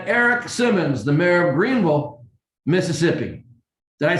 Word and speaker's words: Greenville: And Eric Simmons, the mayor of Greenville, Mississippi. Did I say that right, Eric? I've known you for 10 years and I've been trying to say Greenville different like you do, Greenville.